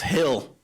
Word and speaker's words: Gil: And Louis Gill, I think his name is. Gil, I think that's his name. Louis, yeah, in Spanish it's pronounced Hill.